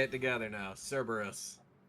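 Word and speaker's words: Cerberus: I'm going to charge my sberus. Salvo. Okay, say it with me. Cberus.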